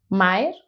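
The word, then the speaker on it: Maher: Es Ilona, Ilona Maer. Mer, no, Ilona Mer. Sí, Ilona Mer.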